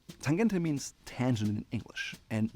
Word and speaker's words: Tangente: Yes, I'm German, so I pronounce it correctly. Tangente means tangent in English,